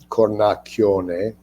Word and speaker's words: Cornacchione: Single C is a ch sound and a CH is a hard k sound.